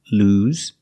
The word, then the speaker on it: lose: lost in the present lose use the long u sound like food and moon lose and yes it's pronounced with the z sound like zebra lose track of time